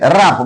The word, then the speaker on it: wrap: Similarly, wrap means cover. W is followed by R. That's why W is here silent.